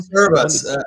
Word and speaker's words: Cerebras: Or how do you pronounce that one? Cerebras.